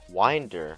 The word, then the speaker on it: Wyndr: Wind like you're winding a toy. Winder, bro. Lol. SH my face. You've been saying it wrong the whole time. How could you? Dude, so many mispronunciations. I didn't really mind. Everyone calls it the SUK, which I find mildly annoying given it's the winder.